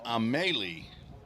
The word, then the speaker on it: Amelie: So hello to Jonathan and Amelie, his mother. Got the correct pronunciation of A-M-E-L-I-E, Paul.